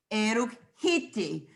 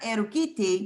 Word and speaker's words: eruk hiti: So write the word in Tunica, eruk hiti, eruk hiti. You have a little bit of difference in pronunciation because you have not erukiti, but eruk hiti now, hiti.